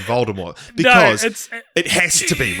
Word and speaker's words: Voldemort: to choose the name voldemort which is actually supposed to be pronounced with the silent t fun fact um but